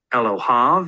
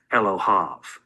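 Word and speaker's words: אֱלֹהָיו: And in the pronunciation of this suffix, the yod is silent. Elohav, it's as if the yod is not there.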